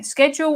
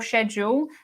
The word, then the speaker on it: schedule: Julian says, I notice in your videos you pronounce schedule the American way. Schedule or schedule.